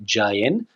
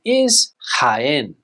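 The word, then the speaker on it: Jaén: are produced in Spain in English we would say JN but of course that's not correct in Spanish the pronunciation Isen don't forget that H sound hen this place is a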